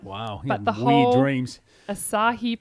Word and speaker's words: Asahi: it every night Wow but the whole rings asahi pronunciation discussion has almost killed me it is pronounced